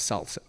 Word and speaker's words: SLSA: It stands for supply chain levels for software artifacts pronounced as Salsa.